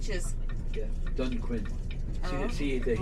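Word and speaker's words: Dunquin: yapping like ald fore for how do you pronounce that dun is it Dune D it means for D Quin dun Quinn is the name of this area here that's C is yeah dun Quinn see see the H is silent they pronouncing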